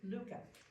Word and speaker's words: Lykke: Lykke, all right.